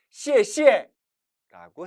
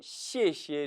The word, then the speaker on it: 谢谢: 이 시에는 원래 사성이에요. 따라서 중국인들은 짝수를 선호하니까 원칙대로라면 시에시에라고 해야겠죠. 그런데 시에시에라고 해버리면 고마워요. 고맙다는 얘기일까요? 안 고맙다는 얘기일까요? 오해가 생길 수도 있고 발음하기도 힘들죠. 따라서 상대방의 오해를 피하기 위해서 그리고 발음을 편하게 하기 위해서 두 번째 단어는 경성 처리한 겁니다.